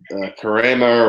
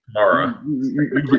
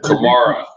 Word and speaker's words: Kamara: It's Kamara. Kamara. Alvin Kamara, like Alvin and the Chipmunks. I have the Alvin part down. And like Karma Sutra, but Kamara.